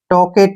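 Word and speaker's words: talkative: को क्या पढ़ेंगे टी और ी को व टॉकेट क्या पढ़ेंगे इसको टॉकेट टॉकेट होता है बानी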